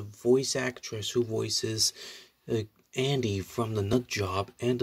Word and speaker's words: Andie: through the voices of andy for for the nut job franchise well andy uses she because her name was spelled a and d i and with this silent e actually but anyhow so the